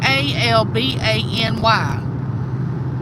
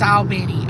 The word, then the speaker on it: Albany: Cla said, "Yeah, my kids play Albany like A L B A N Y. And he will argue up and down. Oh, it's Albenny. Albany. No, it's Albany.